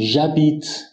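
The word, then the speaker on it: j'habite: قانون صادقه چرا چون اش در زبان فرانسه تلفظ نمیشه مثل اینجا ابیت اش داریم بعد یک وایل داریم پس برای صرف میگیم ژ بیت من زندگی می‌کنم یا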